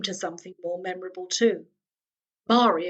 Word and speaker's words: Marie: something more memorable too Mari of course rhymes with star and Lloyd was already